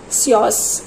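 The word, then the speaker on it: psoas: front of pecus okay the spelling is PS o a s but it is pronounced as SOS posteriorly per forus upor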